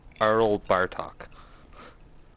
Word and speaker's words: Arl Bartok: Arl Bartok. Arl Bartok. Carl without the C.